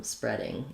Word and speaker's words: spreading: read, present tense read, past tense read has the eh vowel, the same as this kind of read. So it might help you to think of it just as though it would make more sense really to spell it that way, spread, spreading. And then we have the ing sound. So the IPA is going to be like this. You'll see the eh red tent vowel, and then our typical ing ending, spreading.